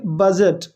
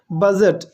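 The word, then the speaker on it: budget: Next क्या है, ऑन a very tiny बजट, इसको पढ़ेंगे बजट, डी साइलेंट है, बजट।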